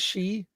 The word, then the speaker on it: Xi: Isn't it pronounced she?